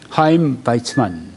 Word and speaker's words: 하임 바이츠만: 두 번째는 이제 하임 바이츠만 이렇게 발음을 하네요.